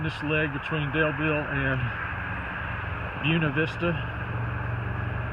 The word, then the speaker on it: Buena Vista: Starting this leg between Daleville and Buena Vista, and that is the way they pronounce it in Virginia. I realize it's Buena Vista everywhere else in the world, but here in Virginia it's Buena Vista.